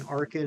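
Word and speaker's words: Archen: fine with changing like I was fine with changing arcan and archeops because you guys you guys convinced me you guys made a very good point about Arkin and archeop so why I shouldn't pronounce the h oh no I see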